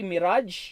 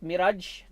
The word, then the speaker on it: mirage: In your book there, you get to see mirage. You have in page 48, mirage. This is just another example of a phenomena called refraction. Hindi po mirage yan. Mirage po ang pag-pronounce niyan.